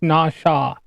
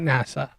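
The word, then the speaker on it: נָשָׁא: Pronunciation is Nasha. Nasha. Nawshaw. Nasha. Not NASA.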